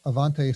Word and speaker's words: AiVante: get their email and for anybody listening it's Avante spelled with an i after the a a i